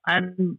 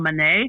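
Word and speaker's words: Monáe: Our lead actress Janelle Adam, you know me in pronunciations, Janelle Manet.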